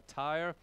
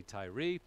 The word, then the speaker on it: Tyre: this king of tyrese some people pronounce it a tire i say tyree doesn't matter really but in any case